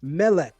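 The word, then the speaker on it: מֶלֶךְ: Consider the word for king, which is pronounced mele.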